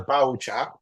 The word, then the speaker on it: biochar: It's pronounced as biochar. Biochar.